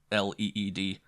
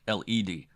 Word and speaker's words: lead: me doctor what does le a spell lead said the doctor promptly pronouncing it le e D then after a pause he said or lead this time pronouncing it led it would depend on the context suppose